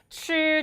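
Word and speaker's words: 吃: 한번 더 출 좋아요 빨래할 때 빨 하고 혀 위치 잡으신 상태에서 발음해 보시면 츄 좋습니다 그렇다면 연결 할게요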